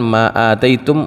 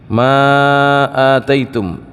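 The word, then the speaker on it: أتيتم: Dia sendiri membacanya dengan Ma atitum makqsuratan maqsuratal Alif dia bacanya bukan Ma maitum Ma ataitum tapi dibacanya pendek maitum maksuratal Alif dengan pendek alifnya Ma ataitum Gitu ya Ma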